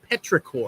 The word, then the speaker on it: petrichor: um the smell of rain is a is petrichor are you pronouncing that correctly e-e-t-r-i-c-h-o-r petrichor you learn something